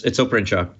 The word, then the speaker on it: Oprencak: Did I even get close to the right pronunciation? Close enough. It's Oprenchurch.